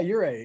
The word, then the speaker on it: Ouray: Is that how you pronounce it? Yeah, Ouray.